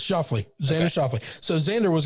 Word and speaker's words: Schauffele: Schauffele? No, it's Schauffele.